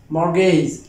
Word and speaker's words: mortgage: row on is mortgagees more gays not more gays most of this too lightly or to tundra more gays but this T is not pronounced here this T will not